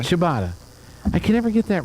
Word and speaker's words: ciabatta: it French or Italian it's Italian like ciao CIA you know what